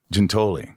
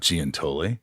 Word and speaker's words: Giuntoli: Gintoi. Gintoi. Ginto. Gintoi. Ginto. Not Giantoi.